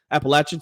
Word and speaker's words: Appalachian: State became Appalachian State Appalachian sorry I'm in North Carolina I said it wrong please don't get